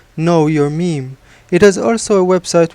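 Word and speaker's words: מם: I will say that in Hebrew we pronounce the word mem just as we pronounce the word for gene, gen. That being said, some people do say meme as the English pronunciation of the word.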